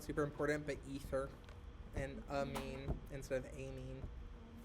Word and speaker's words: amine: And the pronunciation is not super important, but ether and amine instead of amine. Amine. Amine. Amine. Like I gave someone a mean look.